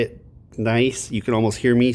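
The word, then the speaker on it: gneiss: This one has a silent G in the front of it. It's pronounced nice, but there's a silent G there. I'll say it nice.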